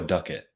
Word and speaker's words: Ducket: order we have Noah is it dukit or Ducket how do you say your name Noah oh it's Noah Ducket Ducket why don't you introduce